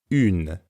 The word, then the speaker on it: une: To pronounce une, as in une pizza, start by saying in, like the final sound in the English word seen. But then round your lips forward like you're blowing a kiss.